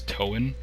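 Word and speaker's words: Toan: it the same so I always pronounce it as toen it's t-o-a-n makes sense to me so yeah let's just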